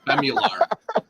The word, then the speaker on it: Bemular: Eric, how do you pronounce this? Bemular.